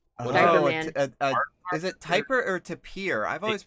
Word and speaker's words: tapir: Is it Typer or Tapir? I've always pronounced it Tapir.